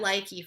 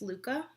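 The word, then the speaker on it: LYKKE: We were saying it likey for a while. Everyone was saying it like or likey. I think now it's come out that it's Luca.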